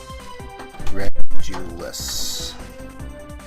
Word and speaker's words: Regulus: Um, switch regulus. And it is pronounced regulus. See, it says Regulus. I was pronouncing it right the whole time.